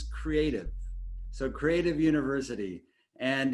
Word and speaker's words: CREATV: The inaugural Creative University, and if you guys were all wondering how you pronounce the name, it's Creative.